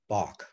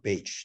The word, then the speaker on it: Bache: But there was also people like Alexander Dallas Bach, or Bache, depending on how you want to pronounce it, who was a great grandson of Benjamin Franklin.